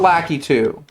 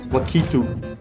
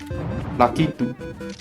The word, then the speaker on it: Lakitu: There's no ah sound in Japanese. It's not Lakitu. And yeah, it's the English, like, version of his name, but no. Lakitu. Lakitu. I will die on this hill.